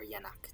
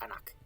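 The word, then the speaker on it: jnk: So this bowl with the rim is in Egyptological pronunciation, which would be in, and then this basket with the handle would be k, that would be k. In reconstructed, this is anak, or yanak, depending on his reconstructed, I think it's anak.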